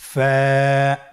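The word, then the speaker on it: ف: ফা হরফটি আপনারা স্ক্রিনে দেখতে পাচ্ছেন ফা হরফটি উচ্চারণের ক্ষেত্রে বারিক হবে এবং এক আলিফ টেনে পড়তে হবে আপনারা আমার সাথে আবার বলুন ফা স্ক্রিনে দেখতে পাচ্ছেন ফায়ের মাখরাজ ফা এর মাখরাজ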